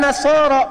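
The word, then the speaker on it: النصارى: bacanya pakai eh kan Alif lamnya Syamsiah tuh ya lamnya masuk ke Nun Wan nasaro padahal itu tulisannya la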